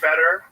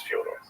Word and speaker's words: Fyodor: I'm like, yeah, well, that's kind of the accepted American pronunciation of Fyodor, though. Right. So I wanted to ask you if it was Fyodor. Yeah, it is. I knew I was right. Right, but nobody calls it like that.